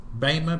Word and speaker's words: bema: That word judgment seat, the word judgment in the Greek is bema, B-E-M-A, beta, starts with beta, eta, mu, alpha, bema, pronounced bema, and it literally means reward seat.